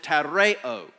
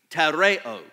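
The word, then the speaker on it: τηρέω: the Greek of the New Testament we would pronounce it tareo tareo and it does not mean listen carefully it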